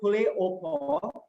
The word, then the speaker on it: poulet au pot: So chicken soup basically, or stewed soup, or poulet au pot, it's pronounced as poulet au pot.